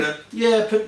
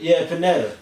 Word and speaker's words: Pineda: Pineda. Pineda.